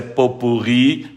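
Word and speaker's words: pot-pourri: exatamente como você escreveu tá dizendo que a pronúncia é Popurri não traz a forma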